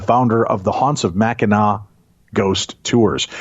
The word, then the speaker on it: Mackinac: It's Mackinac, yeah.